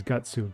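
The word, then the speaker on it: ガッツ: It's still guts in Japanese, but how they pronounce is gutsu.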